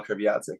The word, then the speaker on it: Kreviazuk: You told me the story probably 15 years ago, maybe, about Chantal Kreviazuk. Is that how you pronounce it?